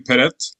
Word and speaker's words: peret: it's a it's a word that's pronounced per actually peret so it's something that